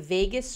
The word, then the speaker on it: vagus: Is doing vagus nerve activation. I know. Vagus is V-A-G-U-S, not like Las Vegas, okay?